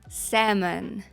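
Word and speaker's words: salmon: Walk Walk Talk Talk і на добівочку semon сеon це в нас лосось і знову ж таки L пишеться але вона не читається я знаю це вас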